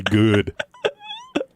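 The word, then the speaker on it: Goode: Super Bowl champ Brett goody put some respect on his name I I I mean what Josh you don't pronounce the e at the end of his name it's good yes gy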